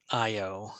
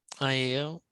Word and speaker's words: Iao: IO is how I would pronounce that, right? IAO. Yes.